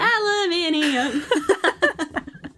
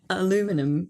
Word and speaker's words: aluminium: Aluminium. Thank you. That was Science with Mikaela. But you say it way better. Aluminum. Is that what you said? No, that's how Americans say it. I say aluminium.